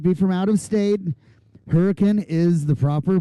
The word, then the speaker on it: Hurricane: Peak Sophie Bush and Sophie Draper Adeline lowson hurricane for those of you that are listening at home might be from out of state hurricane is the proper pronunciation I actually asked someone